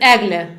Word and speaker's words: Eglė: First of all, for people who know about you, how would you is there an easy way to pronounce your name? My name is Agla.